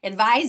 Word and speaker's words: advise: What's the difference in the sounds, not the letters, the sounds? Any guesses? Yes, it's the ending consonant sound. And it's not soft and hard G because that would be phonics. That would be what it looks like. It's voiced and unvoiced.